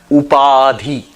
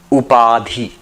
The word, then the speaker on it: Upadhi: This concept is called Upadhi. Upadhi. In if you want to spell it, u p a d h i.